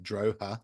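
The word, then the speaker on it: Drogheda: phonetic thing on it and it comes up droa du like huh duh um do do do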